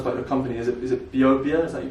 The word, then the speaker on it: BeoBia: So it's actually based on the Irish Gaelic word meaning food for life. So a bit like tomato. BeoBia, BeoBia. Sure, BeoBia then.